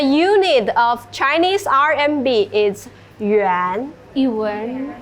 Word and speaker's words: yuan: And the unit of Chinese RMB is yuan. yuan Yuan. Yes. It's similar to Japanese yen, but it's not same.